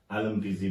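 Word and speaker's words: Alþingi: याद करें, इसकी जो संसद को आलमपीजी कहते हैं, एलएमपीजी, ये प्रोनाउंसिएशन होता है अलग अलग, इसमें फिर गड़बड़ी मत करना, आलमपीजी बोलते हैं।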